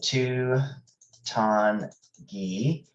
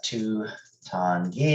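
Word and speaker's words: Tutungi: difficult to understand so if you break it into three syllables it's easier uh two like the number two and then tan rhyming with dawn ton and then the ghee kind of like the ghee and geese so two tan ghee uh two tangy if you put them together to in the online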